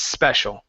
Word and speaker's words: special: through it but um you still had a little too much of the other s in there so you had said it's uh it's so you bounced on it no need to bounce or anything it's just one s it's special okay um next one here